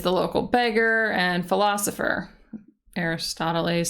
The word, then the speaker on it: Aristoteles: Aristoteles sounds like Aristotle's, and he's a philosopher.